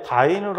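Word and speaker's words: dyne: 9.8 곱하기 10의 5승에 D, Y, N, E 이렇게 썼는데 요걸 갖다 우리가 읽을 때는 자, 다인이라고 읽습니다. 다인.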